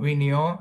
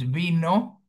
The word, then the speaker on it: vino: Again, it's not vinio, it's vino. Sin tilde, no lleva tilde, there is no accentuation mark.